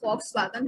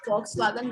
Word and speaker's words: Volkswagen: Sorry, it is pronounced as F, and we call it foul, like in foul. And the word is Volkswagen, which is the international word, which we all know.